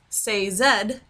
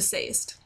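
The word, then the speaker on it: Sazed: On a side note, I heard that is Sayzed as opposed to Sayst.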